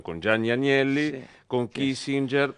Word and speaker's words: Kissinger: Dijiste así como al pasar viajaba en el avión con Jan Yani Anielli, con Kissinger, va lo pronunciamos en italiano porque en Estados Unidos es Kissinger, esos lo llaman Kissinger.